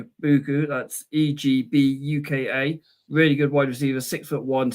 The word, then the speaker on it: Egbuka: So on wide receiver wise, you're looking at number 2, Emi Egbuka. That's Egbuka.